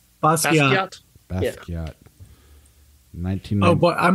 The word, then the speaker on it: Basquiat: Our classic is, how do you pronounce that? Basquiat. Basquiat.